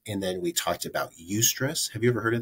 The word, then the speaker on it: eustress: then we talked about UST stress have you ever heard of that before no UST stress is EU stress eustress that's how I pronounce it someone smarter than